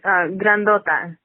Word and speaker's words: grandota: It's grandota. Oh, okay. Well, you know what? You need to just if you can roll your R's, if you can pronounce it. I can't roll. I'm going to butcher that, so I can't.